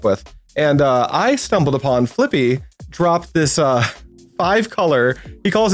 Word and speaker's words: Flippi: of Flippi Boehm, whose name I think I mispronounce it every time I try to say it, but it's Flippi.